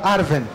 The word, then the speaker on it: Arwen: exemplo o nome da arwen muita gente fala arven isso tá certo o w no quenia ele pode ter o som de v se eu não me